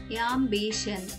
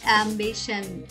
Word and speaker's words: ambition: AM యామ్, BI బీ, TION షన్, యాంబిషన్. చెప్పేటప్పుడు పూర్తి విశ్వాసంతో చెప్పండి, యాంబిషన్.